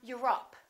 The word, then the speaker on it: Europe: Europe or Europe? I'm from Europe. Don't say I'm from Europe. This is stressed. The O, once again, is reduced. Repeat.